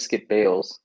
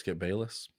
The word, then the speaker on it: Bayless: So this happens, and then Skip Bayless tweets out, I thought it was Skip Bales. huh? I thought it was Skip Bales. Pretty sure it's Skip Bayless.